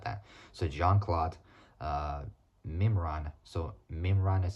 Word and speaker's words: Mimran: no it's not that so Johan Claude uh mimran so mimran is spelled m i m r a so m